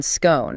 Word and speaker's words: scone: Generally speaking, the source identifies the rhyme with gone scone as the northern pronunciation.